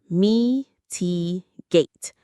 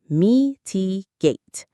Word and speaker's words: mitigate: Mitigate. Mitigate. Stress on the first syllable. Mitigate. To mitigate something means to make it less severe, less serious, or less painful.